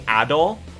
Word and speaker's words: Adol: just now uh because this name is actually adol is the pronunciation so you know there's been that i